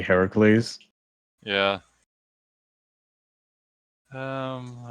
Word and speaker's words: Heracles: I think it's maybe because uh you've been conditioned to hear it as Hercules but now you know it's supposed to be Heracles.